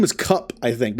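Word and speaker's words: Kupe: there his name is cup I think I think it's spelled k-u-p-e so cup oh it is okay it's only cup okay I wasn't even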